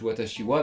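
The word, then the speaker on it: わたしは: Mais en fait, j'ai revérifié, et oui, en fait, c'est juste watashi wa, mais voilà, ça s'écrit comme, enfin, ça s'écrit pas de la bonne manière, on va dire.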